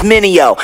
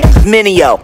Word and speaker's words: Mineo: Everybody make mistakes like VJs, try to say my name, it's Minio. Say it with me, Minio.